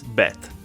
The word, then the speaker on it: bet: It's called a desh, and that means that it's pronounced with a hard B sound, like bane, which means sun.